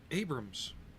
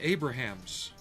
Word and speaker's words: Abrams: I have yet to meet an Englishman who can pronounce Abrams. Because the tank was named after Crichton Abrams. You know, he worked under Patton and helped lead the army into Bastogne. Not Crichton Abrahams. Or Abrahams.